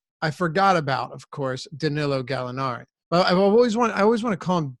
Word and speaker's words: Danilo: I guess it is Denis oh it is Danilo Gallinari but I hear Danilo Gallinari all the